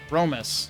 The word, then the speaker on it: ロメス: Romus is the way he's pronouncing it.